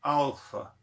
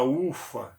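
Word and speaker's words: άλφα: Muito bem, então aqui nós temos o alfa, a pronúncia correta é alfa, né? Alfa. O L, o lambda, ele tem som de L mesmo, não vira U. A ufa, não, é alfa, certo?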